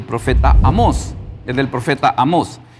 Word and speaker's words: Amós: Es del profeta Amós. ¿Y cómo se dice amó en el hebreo?